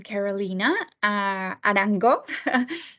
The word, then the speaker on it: Carolina Arango: I am Carolina Arango, I'm from Colombia, so it's pronounced in Spanish.